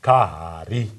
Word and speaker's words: Kahari: Like it is pronounced Kahari. Kahari. If you say Kahari, it means a little pot.